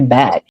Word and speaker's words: bag: You're not gonna say beg anymore. It's a bag. A bag.